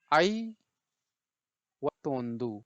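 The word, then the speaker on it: ಐವತ್ತೊಂದು: देखिए ए आई means आई वत्तोंदु, right. तो इसका कैसे उच्चारण करेंगे, इसको हम उच्चारण करेंगे आई वत्तोंदु 51 को, राइट।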